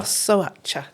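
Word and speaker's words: Șoșoacă: Right, you might have to help me with the pronunciation. I think it's Sosoacha. Sosoacha, thank you.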